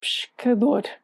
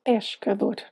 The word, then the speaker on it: pescador: the word pescador, fisherman, because he'd been pronouncing the E in his head, when in fact it should be silent, pescador, not pescador. Self-awareness is such a good skill to have.